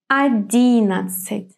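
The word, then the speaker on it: одиннадцать: Yes, the strong or the stressed syllable will be D. That's why our O will be pronounced as A. And what about the final A, the A at the end of the word? It will not be stressed either, so it will be pronounced in a weak way. 11. I don't say A, I say kind of E very fast. 11, maybe closer to I.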